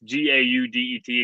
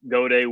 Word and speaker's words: Gaudet: I'm Gaudet, and it's Gaudet, again, French, spelled like Gaudet, but it is Gaudet.